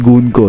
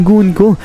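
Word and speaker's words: Gunko: Dito nga ito si gun ko sa gun ko guys pala yung tamang pronunciation sa pangalan nito Ay sabi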